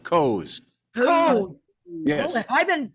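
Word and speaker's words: Koz: Coz. K-O-Z. It's pronounced Coz.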